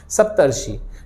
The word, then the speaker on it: सप्तर्षि: जैसे ही आप उसका जब उच्चारण करेंगे तो आपको देखने मिलेगा वहां अर वाला साउंड आपको देखने मिल रहा है, सप्तर्षि। ठीक है, या ब्रह्मर्षि, ये ब्रह्म ऋषि, ब्रह्मर्षि, तो वो अर आ गया।